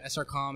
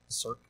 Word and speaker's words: SRC: How do you say the acronym? Circ. Oh, Circ yeah, is I mean the just correct answer. SRC. SRC is fine.